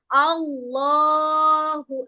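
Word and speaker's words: الله: Allahu Akbar.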